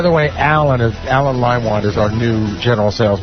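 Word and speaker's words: Leinwand: Lean Vald. No, it's lime wand. That's how you pronounce it.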